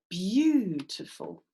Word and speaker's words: beautiful: one or this one so when you say beautiful do you go beautiful beautiful or do you go beautiful or do you go you're too full lots of votes for syllable number one you're absolutely right beautiful there's our syllable there there's our strong syllable excellent work and we're